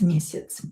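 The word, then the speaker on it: месяц: ra s ras ras mesits ya is reduced here we will pronounce it as e e mesits once a month Robert paluchayet zarplatu Robert receives salary once a month.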